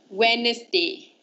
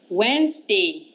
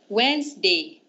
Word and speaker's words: Wednesday: always said it as Wednesday right the correct way of saying this word is there's only two syllables Wednesday so everyone repeat after me Wednesday okay you got it